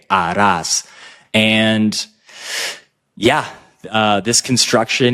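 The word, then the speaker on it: harás: be a must right Aras we're never pronouncing the H remember H is always silent Aras and yeah uh this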